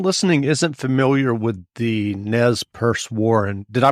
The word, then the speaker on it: Nez Perce: and if someone listening isn't familiar with the nez purse war and did i pronounce that correctly yes you did um can